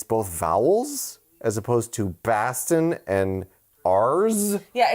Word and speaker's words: Boston: vowels as opposed to Boston and R's. Yeah, it's not B-A-H. It's B-A-W. Boston. It's not Boston. B-A-W-S-T-I-N is how you pronounce Boston if you're from here. Yeah.